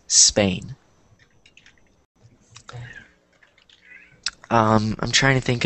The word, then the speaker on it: Spain: when they say it it sounds like espain but you don't want to do that because you don't that's not how you're supposed to pronounce it so I think all of you pronounced it correctly so the correct pronunciation is Spain um I'm trying to